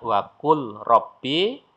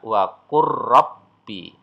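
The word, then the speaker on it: وقل رب: Maka kalau dibaca apa adanya waqul robbi. Tapi kalau sudah diterapkan hukum idgham mutaqarribain, dia dibaca waqur rabbi ya, lam sukunnya hilang.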